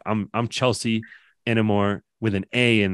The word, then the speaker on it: Chealsea: long time I hated it because who says Chelsea like it like the way it's supposed to be pronounced it but she felt it wrong so